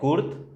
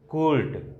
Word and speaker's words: Kurt: यहाँ पे चूंकि क्या है, कुर्त, कर्त या कुर्ट भी इसको क्या करते हैं, प्रोनाउंसिएशन करते हैं, हिंदी में लिख देते हैं।